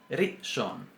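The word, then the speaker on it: ראשון: Por ejemplo, en la palabra primero, en hebreo, que es rishon. Rishon. Si decimos rishon, está mal. Según la pronunciación semítica, no está bien. ¿Por qué? Porque no estaríamos pronunciando lo que esta letra significa.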